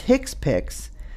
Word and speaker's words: HCPCS: procedures performed by physicians hcpcs level 2 pronounced hick piix stands for healthcare common